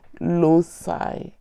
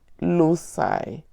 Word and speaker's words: loci: Okay, plural is loci. Okay, that is how I was taught to say the pronunciation.